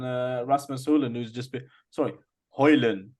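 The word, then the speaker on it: Højlund: rasmusulin who's just sorry hoyland that's how you pronounce the d is silence apparently yeah Johnny Evans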